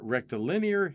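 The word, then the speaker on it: rectilinear: I was pronouncing that wrong. The near rectal linear halo orbit.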